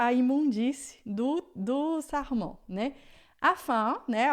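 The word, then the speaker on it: afin: Ó, o in, como eu expliquei do caso no começo, em francês é sempre de an, tá? Então, você nunca viu essa palavra na sua vida, mas você já aprendeu aqui comigo que é sempre an, então você vai falar afã e não afim, tá? em francês sempre som de a.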